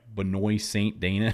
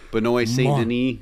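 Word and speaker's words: Benoît Saint-Denis: And I always say his name wrong. It's like Benoy Saint Dana. I don't know how to say his name, but that's another Benoy St. Deni.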